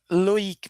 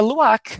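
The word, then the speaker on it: Luïk: Então, se não tivesse o trema, seria Luak, né? Mas não é Luik, porque eu vou falar esse I. como o som de i, já que ele tá com trema.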